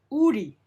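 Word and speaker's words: 우리: example uri not but uri more like an aras so when it's in between vowels or when it's in the first character spacing it's pronounced more like an r now we pronounce it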